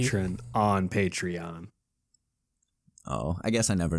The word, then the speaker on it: Patreon: We have a Patreon now. A little shameless plug for Holy shit, he everybody. said it right for the first time. Wait, how has he been saying it in the past? Patron.